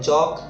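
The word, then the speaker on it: chalk: जैसे WAL के इसमें L साइलेंट है तो वॉक, TAL के L साइलेंट है टॉक, CHAL के L साइलेंट है चॉक, CALM L साइलेंट है काम, PALM पाम, CALF में L साइलेंट है काफ हाफ।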